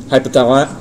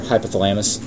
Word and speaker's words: hypothalamus: the same path pathway hypothal or hypothalamus I put the emphasis on the wrong syab the hypothalamus releases a